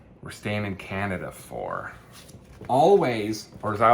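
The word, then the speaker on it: Alvvays: morby number two we're staying in Canada for always or as I like calling to bug my wife all vase but it's it's spelled it is pronounced always with their third record Blue rev um again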